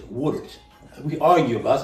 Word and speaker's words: Woodard: My sister told me, you don't pronounce it right. It's Woodard. We argue about it. I said Woodard.